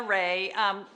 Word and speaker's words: Rahe: Rahe. Let's put that in the comments because Rahe is spelled R-A-H-E. Yeah, Rahe. We remember it like Rahe.